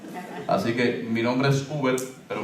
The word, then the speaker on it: Hubert: Así que mi nombre es Uber, pero mi nombre es con H. O sea, se dice igual, pero se escribe diferente.